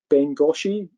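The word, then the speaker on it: Bengo4: also taken the whole thing in some called bengashi as it's pronounced in japanese or bengal 4 as you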